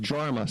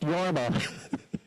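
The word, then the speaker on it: Jorma: was a record album by The Finnish artist yarma kakan and um she said all those years said on the record album J RMA but she thought it was pronounced jarma so she named her son JMA and she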